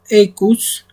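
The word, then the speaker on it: aequus: Porque recordemos que AE pronunciamos como E. Y tenemos aecus, que es igual.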